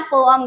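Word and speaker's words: poem: आपको ये बता दूं कि it should not be pronounce as पोम, ऐसे नहीं प्रोनाउंस करते हैं, इट्स पोअम, ठीक है, पोअम प्रोनाउंस करते हैं।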